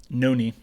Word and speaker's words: Noni: So I may pronounce this first name wrong. Is it Noni or Noni Madueke? Noni.